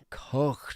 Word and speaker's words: Koch: Koch dog. Koch. Although the HGH is silent. Co-dog. Yeah, Koch dog.